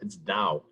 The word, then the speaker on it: Dowe: No, it's Dow. Dow? Yeah. As in Midland Dow? Yeah, but it's spelled differently.